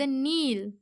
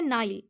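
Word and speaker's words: Nile: And pour the waters of द नील। देखिए, इसे जो नील है ये एक नदी का नाम है स्टूडेंट्स, इसे इंग्लिश का प्रोनाउंस करने का तरीका है नाइल, ओके।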